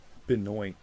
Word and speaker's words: Benoit: Some people spell it with only one T. And Chris Benoit. It's Benoit.